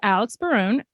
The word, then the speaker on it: Alex Barone: daughter faith faith yep and today's guest is Alex Baron did I pronounce that correctly okay good um actor producer